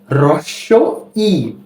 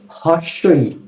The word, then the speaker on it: হ্রস্ব ই: এরপর এই বর্ণটি হচ্ছে হ্রস্ব ই। এটা কি? হ্রস্ব ই। অনেকে এটাকে বলে হর্স্ব ই। না, হর্স্ব ই বলা যাবে না। এই বর্ণটির সঠিক উচ্চারণ হচ্ছে হ্রস্ব ই।